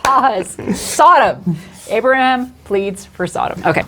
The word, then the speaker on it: Sodom: Yeah, she can't say Saddam. S. No, she can't. Just remember the emphasis is on the first syllable, not the second. Sodom. Yes. Sodom, not Saddam.